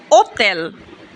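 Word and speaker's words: hotel: গাত্ত মানে বিড়াল আক্কা আক্কার উচ্চারণ সাধারণত হয় না যেমন ওতেল ওতেল মানে হচ্ছে হোটেল ই এর উচ্চারণ শুরুতে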